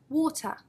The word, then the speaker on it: water: British and American pronunciation think about the word water water very clearly you can hear we have the schwa sound at the end the lazy vowel sound ah like Laila water computer make sure you